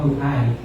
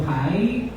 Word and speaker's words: uhay: Saan po ba yung stress? Sa first syllable or second syllable? Paano po? Uhay. So, sa second syllable, uhay. Kasi kapag nasa first syllable, uhay. Okay, so uhay. Okay, nasa second syllable po ang stress, and we will pronounce the word uhay.